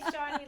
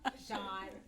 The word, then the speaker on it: Chawne: What do you got for Chawne? E. Will, The E is Oh, silent. oh. But see, I say Shawnee like, I know the E is silent. I just think it's cute, Shawnee. Okay, fine, Chawne.